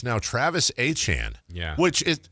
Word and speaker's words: Etienne: So, it's not Travis Etienne. And he was remarking like, "Hey, now I'm in I'm in Louisiana. You guys know how to pronounce this." It's Travis Achan.